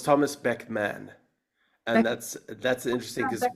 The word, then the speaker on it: Beckman: Well, it's Thomas Beckman, and Beck, that's interesting because Beckman. a lot of people think it's Beckham, Okay. but it's actually Beckman. A small little detail. And that's the way But it's spelled, Beckman, right?